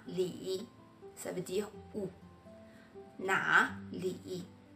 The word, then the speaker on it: 哪里: En effet, na li, c'est une combinaison de 3e ton plus 3e ton. Il y a une règle de prononciation sur les combinaisons. Quand c'est 3e ton plus 3e ton, le premier mot passe au 2e ton.